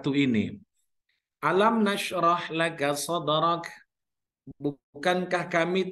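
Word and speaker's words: أَلَمْ: pertama alam nasyrah lakasadhoran itu ada tajwidnya itu ada mim mimnya kan berbaris mati ibu ya mimnya berbaris mati Bari sukun setelah huruf mim mati itu mim sukun itu ada huruf nun ada huruf nun atau kalau di situ akan ada syafawi itu bacanya harus jelas bu alam alam jadi dia harus jelas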